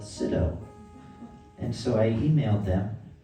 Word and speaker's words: Sydow: It's a Sydow guitar, spelled S-Y-D-O-W, written here and here. My last name is Sydow, spelled S-Y-D-O-W. They actually pronounce it Sydow, but they pronounce it wrong.